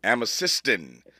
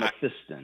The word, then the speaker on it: Amethystine: Amethystine. And Amethystine.